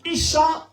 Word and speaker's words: Isa: pour également un prophète dans le nom se prononce Isa ou haa en arabe et le nom de